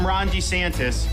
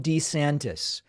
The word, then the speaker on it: DeSantis: running oh my God he's going back to the old pronunciation do you guys know about this he used to say his name DeSantis and then over the last several years he stopped that he seems to be he's running as a different person he's back to DeSantis for president to lead our Great